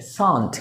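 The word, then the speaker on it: shan't: तो चलो ना, लेट्स गो, शैल का नेगेटिव क्या होगा? शैल not. Pronunciation is व्हाट? शॉर्ट note is व्हाट? शांत। क्या होगा? शांत।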